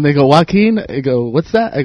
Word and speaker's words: Joaquin: Yeah, Everyone says Jaquin? Yeah, Joaquin, Joaquin. I just, man. Jamiroquai? Some people just go, can you just spell it? Can you spell it? You should just spell it like walking. Like that.